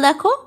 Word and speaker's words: the: যখন কোনো word noun বা নাউনের আগের অ্যাডজেক্টিভ ওয়ার্ডটি যদি কনসোনান্ট দিয়ে শুরু হয়, তাহলে সেই তার আগে যখন আমরা দাকে বসাবো তখন তার উচ্চারণ করব দা বলে।